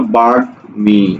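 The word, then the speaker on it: বাগ্মী: যেমন দেখো এই যে গয়ের সাথে ম যুক্ত হয়েছে, এটার উচ্চারণ কি, এটার উচ্চারণ হলো বাঘ মি, দেখো ময়ের উচ্চারণ হচ্ছে।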